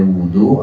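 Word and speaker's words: وضوء: Nah, ini bahasa Arab, ada wudu, ada wadu. Nah, di sini wudu dengan domahnya wawu ini sebuah ungkapan untuk pekerjaan tertentu, yakni pekerjaan menggunakan air dalam rangka mengangkat hadas. Bacanya wudu.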